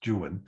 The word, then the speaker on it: Juan: work is don juan it has to be pronounced juan not juan he makes the rhyming insists that it's jewen um in don joon